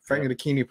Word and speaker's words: Frank Ntilikina: I got to pronounce it there. Frank Ntilikina, point guard, played for the Knicks.